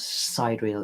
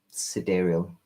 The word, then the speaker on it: sidereal: look at it and i say side real but it's not side real it's like side sidereal it's outside a real